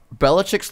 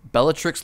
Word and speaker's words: Bellatrix: a good one Andrew nice job literally uh Belichick's Lestrange nope why that's not her name Bellatrix Lestrange there you go there's no shot you